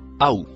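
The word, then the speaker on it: أو: Le mot qui suit en bleu se prononce aou.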